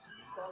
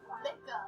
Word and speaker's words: Mika: This band name, Mika, like is it Mika, Micah? Like, the band is spelled Mika. Like Mika. That's like how you spell the band. Mika. Micah. Micah. Micah. It's Micah.